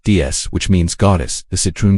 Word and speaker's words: DS: In French, DS is pronounced DS, which means goddess.